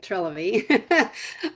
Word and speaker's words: Trilivy: I said it right, Trilivy.